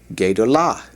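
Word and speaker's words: גדולה: All right, the feminine of that, gedolah. Gedolah. Once again, we've added the comet's hey to the end of it.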